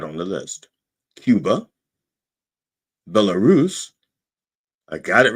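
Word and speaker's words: Belarus: Now, I had to say I I pronounced earlier I had in practice I pronounced Bellarus like I would pronounce Wallerus. I said Bellarus and and I and I couldn't fix it in my head. Took me a while and I had to sound it out.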